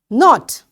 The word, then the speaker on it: knot: Knot, knot, you know, when you tie something, knot. So this K is again silent.